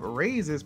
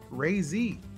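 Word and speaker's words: Raze: far from me oh just a heads up raises pronounced ray z i feel like he'd be disingenuous to change it at this point ray z all right cool cool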